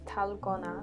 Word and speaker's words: Dalgona: consistency this drink is actually pronounced tallow gonna the name comes from the color you get after dumb mixing which resembles a popular Korean Street candy talavana so we wanted